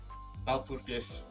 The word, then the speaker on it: Walpurgis: How do you pronounce it again? Walpurgis.